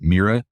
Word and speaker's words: MIRA: So NIGMS has this program called Maximizing Investigators Research Awards, MIRA, and they pronounce it MIRA.